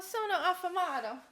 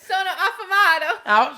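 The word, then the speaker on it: sono affamato: Uh, sona aamato.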